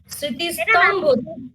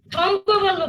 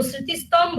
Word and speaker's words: স্মৃতিস্তম্ভ: খুব সুন্দর লিখেছো বাবা কিন্তু তুমি উচ্চারণ তো একটু ভুল বলেছ স্মৃতিস্তম্ভ স্থভ স্থভ বলবে না আমার সাথে বলো স্মৃতিস্তম্ভ বলতো স্মৃতিস্তম্ভ হ্যাঁ থ্যাঙ্ক